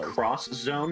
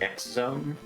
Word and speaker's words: X Zone: It's pronounced Cross Zone. It's not X Zone.